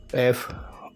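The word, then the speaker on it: efe: A next है एफ एफ को Spanish में एफे कहेंगे एफे एफे फिर से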